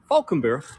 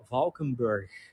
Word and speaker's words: Valkenburg: welcome uh welcome in Falkenburg that's how we pronounce it by the way Falconer that is the proper Dutch pronunciation although the people over